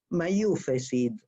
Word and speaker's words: Mayufes: Hubo en Polonia una figura llamada el Mayufesid. Mayufes es la pronunciación yiddish de Mayafit, qué hermosa eres, palabras iniciales de una